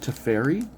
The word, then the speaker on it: Teferi: some people pronounce it to fairy but i was like why would it be pronounced to fairy but then spelled like why are they to fair why would you pronounce the two e's differently why do you think